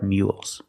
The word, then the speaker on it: mule: has a lot of mules let's practice do mules work hard that's right mules work hard so remember mule has the YY sound M mule finish with